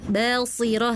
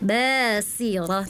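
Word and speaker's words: بَصِيرَةٌ: kakak ketika membaca eh ada huruf sin seperti sh di ayat 24 tadi terdengarnya gini yaumaid basirah seperti huruf sh saya terdengarnya ya heeh harusnya huruf sin basirah tadi terdengarnya seperti huruf sh heeh ya.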